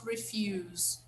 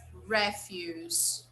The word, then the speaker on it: refuse: Look, refuse, It's not refuse, it's refuse. Okay, it's a noun.